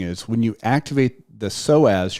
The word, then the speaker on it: psoas: Because what you're doing is when you activate the psoas, your main hip flexor, spelled with a P, P-S-O-A-S.